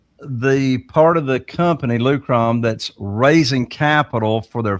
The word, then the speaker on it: Lukrom: So just so everybody knows what we're saying, Lukrom, that's spelled Lukrom, Lukrom, yep.